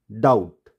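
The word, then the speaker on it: doubt: और इसी तरह हमने देखा था कि अगर बी के बाद क्या हो? टी हो, तो भी हम बी को प्रोनाउंस नहीं करेंगे। यहाँ हमको इसको डेप्थ नहीं पढ़ेंगे, हम पढ़ेंगे डेट, डाउट, सटल।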